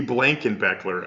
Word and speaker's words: Blankenbecler: So with that, the Blankenbecler, I'm saying it correctly.